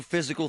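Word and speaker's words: Fyzical: You want a new physical therapy experience? You want a treatment plan centered on you? Monroeville Physical, spelled F Y Z I C A L, is spelled different.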